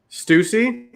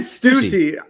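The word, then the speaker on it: Stüssy: to say Oh No so you guys are pronouncing the brand s tu s s ey incorrectly Stussy who'd you say Stussy well did I said stuti I started saying stuff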